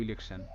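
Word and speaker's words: election: ও এন সান তো টি আই ও এন কিন্তু একটা প্যাটার্ন যার উচ্চারণটা হয় সান এই স্বর্ণ নয় কিন্তু ঠিক আছে সান এরকম সাউন্ড তো ইলেকশন আচ্ছা এটাই কিন্তু ছিল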